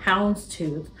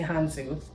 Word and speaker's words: houndstooth: I told you guys apparently I've been pronouncing it wrong it's houndstooth but I don't like that so I'm going to say hanzu um I said the bad